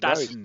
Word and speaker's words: DAZN: DAZN, like normal people, but DAZN.